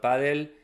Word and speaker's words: padel: Um, some still pronounce it, you know, padel instead of paddl.